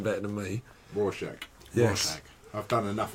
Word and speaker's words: Rorschach: Rorschach.